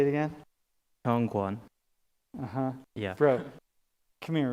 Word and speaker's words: Hyungwon: Hyungwon. Wait, say it again. Hyungwon.